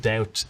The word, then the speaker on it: doubt: borrowed into the language there was no B in the word doubt either in English or in French but the word came ultimately from the Latin word duare which has a b so at some point in the Middle Ages both French and English strive society that perhaps we should put the B back in genivi someone just